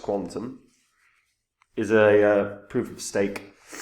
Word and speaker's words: Qtum: isn't a long-term downtrend now pronounced Quantum is a proof of